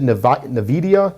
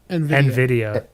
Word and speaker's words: Nvidia: how to pronounce this how is it navidia the video is that the system how the graphics card nvidia nvidia okay i always forget they